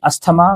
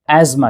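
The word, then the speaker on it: asthma: हमारे समाज में इसे अस्थमा कहकर पुकारा जाता है। तो याद रखिए इसकी बीमारी का नाम अस्थमा नहीं है। इसे एज्मा कहते हैं।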